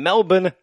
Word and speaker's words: Melbourne: And in Australian fuck hugs news tonight, City Life Church in Melbourne, Australia, notice I left the R out, I'm multicultural, well is done.